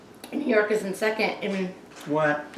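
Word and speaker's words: Eyre: And you pronounce his last name is I think it's E-Y-R-E, Fred A.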